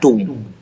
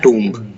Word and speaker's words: tomb: We pronounce it एज टूम। ठीक है, वी डू not pronounce it एज टूम्ब।